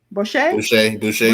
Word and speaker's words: Boucher: Was it Brochure? Was it Brochure? Boucher, yeah.